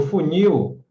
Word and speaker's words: funil: Porque no funil, a sílaba mais forte é a primeira, contando de trás para frente. Mas só teria acento se terminasse em A, E, O, E, M, E, N, S.